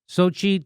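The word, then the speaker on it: Xochitl: McBeth of Georgia and Deb Holland and Sochi Sochi Tores small of New Mexico I said it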